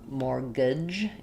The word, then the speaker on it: mortgage: So for mortgage, the t is silent. And the even though this looks kind of like gage or gag or gag. Um, mortgage.